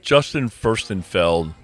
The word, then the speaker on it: Justin Furstenfeld: Yeah, I feel like I have heard of that Justin Furstenfeld.